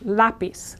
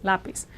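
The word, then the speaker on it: lápiz: now the word in Spanish for pencil is lapis again stress here there's a written accent mark and Z is is like an S sound in Latin American Spanish lapis lapis my pencil me lapis pencils now there's a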